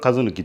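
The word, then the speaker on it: 和貫: 橋本和貫、通称ね生徒の方も一貫と呼んでますけども、戸籍上は和貫という読み方です。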